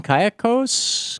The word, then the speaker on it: Cayucos: Cayucos, California, John?